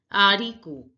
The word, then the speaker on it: haricot: Bean is pronounced as haricot. Haricot. Haricot. The H is silent, so it is not pronounced. So we pronounce it as haricot.